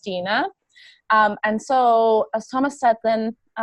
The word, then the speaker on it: Stine: which is confusing right so it's pronounced Tina and so a sama